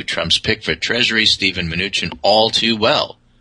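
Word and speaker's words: Mnuchin: purpose of this discussion it's Steve minuchin oh uh it's actually a Russian Jewish name uh derived similar to manim and so that's how it's pronounced that's very interesting what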